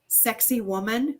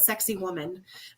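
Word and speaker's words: Sacsayhuamán: say this wrong but the way they used they were pronouncing it was um the stones of sexy woman but that's what they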